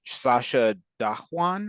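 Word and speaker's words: Sacha Dhawan: think was played by S Sasha dwan I believe is the pronunciation um that is his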